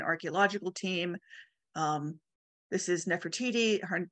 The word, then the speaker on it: Nefertiti: by a German archaeological team um this is Nefertiti her name is pronounced many many ways I personally say Nefertiti there's na na Nati but I use Nefertiti um and it is believed to have been